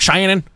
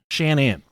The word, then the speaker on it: Shan'ann: It's spelled Shanann. It's not Shannon, it's Shanann. And I really went out of my way to make sure that it was pronounced Shanann. Yeah. Not Shannon. Not Cheyenne. Not Cheyenne.